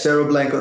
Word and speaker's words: Cerro Blanco: that so let's turn now to is it cerro blanco how would you pronounce this yes cerro blanco the cerro blanco gold project in in southern